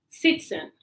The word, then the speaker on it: citizen: So citizen. I say citizen. Yes. Citizen. It's not Zen, definitely. I think it's citizen. Yes, I citizen. think it's like an S sound.